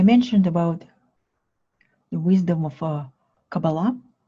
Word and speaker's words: Kabbalah: Sometimes it's pronounced like a Kabbalah, but a proper way to say it's Kabbalah.